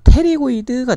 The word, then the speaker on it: pterygoid: 있 어 라고 되어있어요 표피는 묵음 입니다 테리 고 이드가 되겠어요 그래서 가 쪽 날개